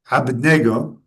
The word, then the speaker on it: Abednego: And among those, there were the names Abednego, which is pronounced in Aramaic, Abednego, which is kind of cool, right?